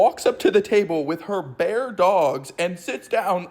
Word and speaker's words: paella: And then the waiter takes my order and I'm just like, "Oh, I'll have the paella." And my friend goes, "No, it's pronounced ba."